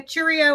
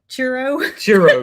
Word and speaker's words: churro: you and I said yes I'd like a Cheerio ice cream and she looked at me and she said I don't even know how to say it but she said she was laughing and she said churro churro ice cream and I said yes ma'am